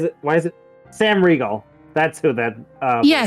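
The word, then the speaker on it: Riegel: name why is it why is it Sam Regal that's who that uh yeah Sam yeah Sam Ral it's actually Regal I've heard him pronounce it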